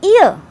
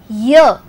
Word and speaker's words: year: This ear is not exactly ear. How we pronounce ear? It is year. A little sound of Y, year is coming. There are 365 days in a year. So, year is year, starting with year consonant.